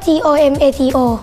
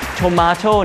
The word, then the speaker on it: tomato: เก่ง จริง ๆ เลย Tomato เนี่ย ออก เสียง ได้ 2 แบบ ออก เสียง Tomato หรือ Tomato ก็ ได้ แต่ ความ หมาย เดียว กัน แล้ว ก็ ผัก